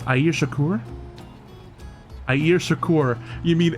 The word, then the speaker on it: Shakur: Air Shakur. You mean Air Shakur? I think just because the last name threw me off, I gotta throw like some emphasis on the first bit, you know?